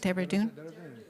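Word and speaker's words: Dehradun: missions at the Luther Wu Junior College in Derdun. I'm not sure if I pronounced that right. Deredun.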